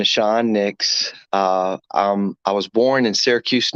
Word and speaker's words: Nahshon Nicks: audience uh hello uh my name is pronounced nashon nashon nix i was born in